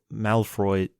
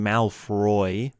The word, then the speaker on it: Malfoy: I've been saying Malfoy with a bit of an R instead of a Mal... It's Malfoy, so there's no R.